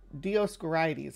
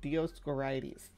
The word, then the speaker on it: Dioscorides: uh Dio scy scores dioscorides I think is how it's said dioscorides that's a cool name